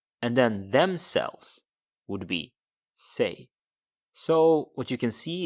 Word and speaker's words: sig: It sounds like say in English, but it's spelled S-I-G and it's pronounced sig. Sig.